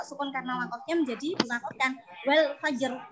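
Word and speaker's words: والفجر: Nah, ini ro sukun karena wakofnya menjadi diwakofkan wal fajr. Nah, wal fajr mencucu. Ini mencucu, tafkhim itu bacanya mencucu.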